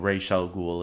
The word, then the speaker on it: Ra's al Ghul: used both looks like Gotham will be using racial ghoul as well so Rachele ghoul not Ra's al